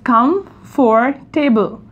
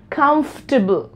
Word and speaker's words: comfortable: going to pronounce like comfortable comfortable comfortable right so now you can see that we are not pronouncing the middle portion this one we are